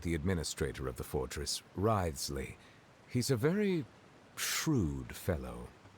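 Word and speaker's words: Wriothesley: personal dealings with the administrator of the Fortress ryley he's a very shrewd fellow oh right rightly I couldn't pronounce his name but thank you for for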